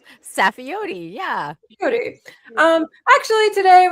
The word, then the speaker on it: Saffioti: We have with us a special guest joining us today, Miss Safi. Did I pronounce that correctly? I think I may have. I may not have it correctly. Safiote.